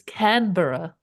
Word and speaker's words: Canberra: It's Canberra.